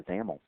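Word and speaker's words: XAML: is determined by the zaml um by the way zaml AML is the is the acronym there and that's pronounced with a you know rhyming with camel so let's go ahead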